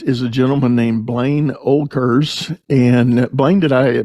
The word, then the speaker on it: Oelkers: about my guest is a gentleman named Blaine olkers and Blaine did I pronounce that last name correctly yes yes you